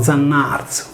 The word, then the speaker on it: Zannàrzu: traduce l'italiano colui che fa, diventa Diano arius, pronunciato Zannarzu.